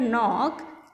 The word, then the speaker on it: knock: In the word knock, K is silent.